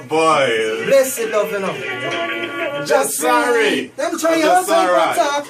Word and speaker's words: Jesarai: Right, it's pronounced Jesarai, means I am.